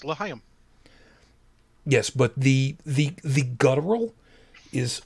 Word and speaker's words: L'chaim: L'chaim. Oh, thank you. And I sincerely hope that I pronounced that correctly. And I'm not screwing around. If I remember correctly, I think I did. You did. It's L'chaim.